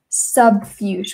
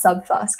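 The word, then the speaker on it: subfusc: this random things like sub fuch we thought it was called um it's actually pronounced sub fusk and it it refers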